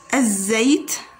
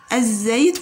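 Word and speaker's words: الزيت: So we have the first word, az-zayt, az-zayt, az-zayt, which means the oil.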